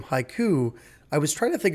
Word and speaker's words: HYCU: of syllables and so I said okay hiu is exactly haiku poem is exactly what we're trying to achieve it's the perfect metaphor